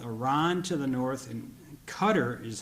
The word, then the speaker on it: Qatar: water borders with iran to the north and qatar is how they pronounce it when we were there to the